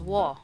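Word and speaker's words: ㅝ: Next one is wo on the right side. Wo is a combination formed by adding u plus o. So we say wo.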